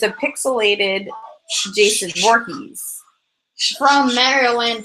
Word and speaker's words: Mario: And Raven Mario. likes to play Halo Reach. And Mario. It's pronounced Mario, it- not Mario.